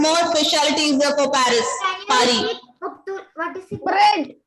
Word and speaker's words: Paris: Paris is in English. In Eiffel French, Tower. pronunciation is Paris. Paris. D'accord? Paris. S. The ending letter S will be silent. Paris.